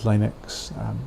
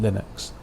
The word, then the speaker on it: Linux: We refer to it as Linux, but most people these days, they follow Linus Torvalds' pronunciation and call it Linux.